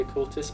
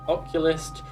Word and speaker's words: Occultist: Fun fact about the Occultist, I used to pronounce that as Oculist.